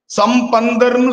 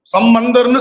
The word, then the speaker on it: சம்பந்தர்: நால்வர் யார் திருஞான சம்பந்தர் இந்த உச்சரிப்பு ரொம்ப முக்கியம் சம்பந்தர்னு சொல்லணும் சம்பந்தர்னு சொல்லக்கூடாது வாரியார் சுவாமி ரொம்ப நகைச்சுவையா